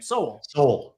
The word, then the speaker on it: Sowell: I never know how to pronounce his name. Sowell.